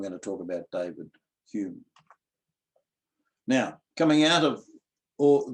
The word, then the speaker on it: Home: So the other one should be pronounced Hume as well, even though it's spelt Home.